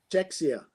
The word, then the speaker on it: Czechia: Czecha. How do you say it? Do you know? Czechoslovakia. Not Czechoslovakia. Czechia.